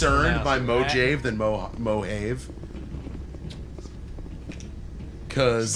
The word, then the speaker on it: Mojave: is pretty left alone oh you must hear some really goofy pronunciations of with your job IV mojo v oh man behave whoa it's mojave it's super full of